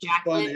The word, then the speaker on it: Jacqueline: mispronounced which is pretty common my name is Jacqueline I'm sorry most people mispronounce it so I just stopped and I